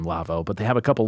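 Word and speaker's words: Lawo: that no incorrect it's Lavo yeah screw that that's not true see the the manufacturer is a German and so that's how you pronounce it I guess it's his last name Lavo but they have a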